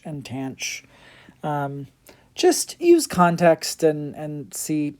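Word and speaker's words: tanh: When I learned hyperbolic sine, hyperbolic cosine, and hyperbolic tangent, I was told that they were pronounced cinch, cosh, and tanch, which cosh makes sense.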